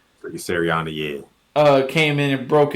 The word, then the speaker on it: Sirianni: Coach, how do you pronounce his last name? Nick Sirianni That's Sirianni.